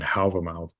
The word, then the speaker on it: Hávamál: Uh, I use modern Icelandic pronunciation here because it's what people are familiar with, Völuspá and Hávamál.